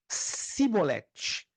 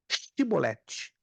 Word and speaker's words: chibolete: que que é isso eles tinham que pronunciar chibolete não é chiclete é chibolete mas pronunciaram chibolete si